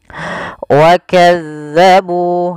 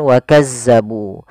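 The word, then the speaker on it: وكذبوا: Wakadzabu. Ah ini tekan di dal bukan wakazzabu. Jangan kita baca dengan hati-hati. Jangan sampai kita membacanya dengan wakazzabu dengan huruf zai.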